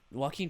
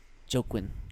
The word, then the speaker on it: Joaquin: It's spelled Joe Quinn, though. Joaquin. Oh, so I always had to hear it first before I say it.